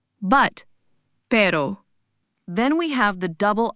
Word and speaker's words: pero: First up is the single R. This isn't like the English R. It's a soft quick tap of the tongue against the roof of your mouth. Similar to the t sound in the American pronunciation of butter.